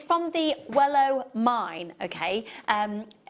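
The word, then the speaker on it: Welo: It's from the Wellow mine, okay. Some people describe it as the Wallow mine, but it's also pronounced the Wellow mine. Both are completely phonetically acceptable.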